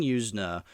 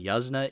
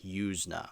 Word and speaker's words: Yuzna: a bit let me just say so Brian yusa that's how you say his name at first I thought it was Brian yuzna it's yna that's how you pronounce it yusa I want people to get that right because